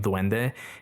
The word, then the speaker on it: dwende: It looks like it's pronounced exactly the same dwende. In Spanish it's d u e n d e and in the Philippines they spell it d w e n d e but it's the same pronunciation.